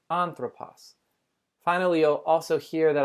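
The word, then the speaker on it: ἄνθρωπος: that makes you nervous the first word is on purpose on throw pause you can see how i pronounced it with three syllables on throw pause and you also know that I put the emphasis at the beginning of the word on throw poss finally you'll also hear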